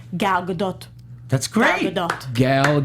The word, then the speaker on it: Gadot: Gadot. Godot. So that's why a lot of people think it's Godot, because they just assume that the T isn't pronounced because Soft she's foreign, T.